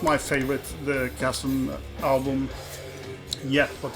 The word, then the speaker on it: Chasm: With the inner, yeah, if you don't know the Chasm, as it should be pronounced.